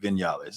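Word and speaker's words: Viñales: vignellis is that yeah it has actually spelled v-i-n-a-l-e-s okay so but they they you know they pronounced uh the v as a b so it's like you know here in the states we're going to call it vignales yeah yeah we are Americanized right right folks say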